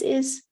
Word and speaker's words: eye: You will see I is spelled E-Y-E. Eye. We don't pronounce it any way you see it when you're reading it. We just pronounce it I.